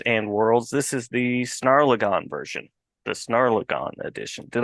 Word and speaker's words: Snarlagon: of words images and worlds this is the snarlagon version the snarlagon Edition did I get that pronunciation you did you nailed it perfect perfect